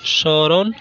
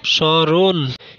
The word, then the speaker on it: স্মরণ: দুই নম্বরে, কোনো শব্দের প্রথম বর্ণে মফলা যুক্ত হলে মফলা অনুচ্চারিত থাকে এবং কিছুটা নাসিক্য রূপে উচ্চারিত হয়, যেমন শ্মশান, শ্মশান, স্মরণ, স্মরণ ইত্যাদি।